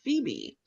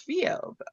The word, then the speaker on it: Phoebe: and she kept saying it was a page about a girl named Phoebe. And in my head it was Fob.